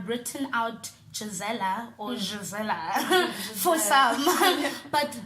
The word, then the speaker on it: Gisela: It's written out Gisela or Gisela for some, but the pronunciation for you is Gisela. Gisela.